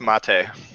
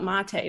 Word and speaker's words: mate: t is correct with three points also it's pronounced mate that's actually it's not oh no oh i just read that the other day most people will call it mate but it's like an over like localization organization